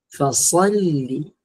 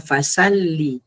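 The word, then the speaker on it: فَصَلِّ: Fas fasalli fasalli. Seb pastikan tebal. Jangan fasalli.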